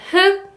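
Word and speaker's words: 흙: And just like you can hear in 흑, 흑, and 닭, 닭, when you see these 리을 기역 double consonants, you can just choose the 기역 only, like 흑, 흑, and 닭, 닭.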